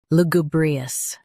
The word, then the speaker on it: lugubrious: Now read the syllables shown on the screen naturally. Lu, gu, brie, us. Lugubrious. Stress gu and keep brie smooth.